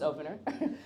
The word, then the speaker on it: Opnr: Opnr is pronounced Opnr.